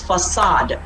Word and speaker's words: facade: david it's pronounced as affidavit okay this is pronounced as facade not okay don't ever say kid all right